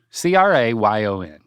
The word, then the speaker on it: crayon: a y y n c r a yo n say it crayon two syllables sounds like crayon some people say it